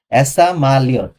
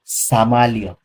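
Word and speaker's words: самолёт: এখানে আমি বলতে পারতাম এসা, এসা, এস, এসা, এসা মালিয়ত। এসা মালিয়ত হয় না, হয় হচ্ছে সামালিয়ত। ওই এরকম উচ্চারণ হয়, সামা, সামা। বুঝতে পারছেন?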